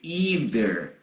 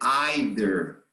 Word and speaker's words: either: there are two possible pronunciations. In American, Canadian English, we say either. Okay. In British English, Irish English, Maltese English, Australian English, they say either. Okay? Okay. Both are acceptable, either or either.